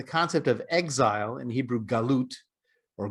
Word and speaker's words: galut: As we discussed in the morning session, there's a distinction to be made between the concept of exile, in Hebrew galut, or golus in the Yiddish pronunciation, and the concept of a diaspora.